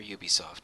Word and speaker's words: Ubisoft: Ubisoft released I'm not I'm never sure if it's Ubie or Ubisoft but I'm gonna say I'm gonna try to say Ubisoft it's ubiquitous software so okay oh so